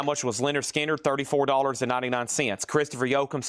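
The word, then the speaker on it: Lynyrd Skynyrd: Leonard Skinner pronounced.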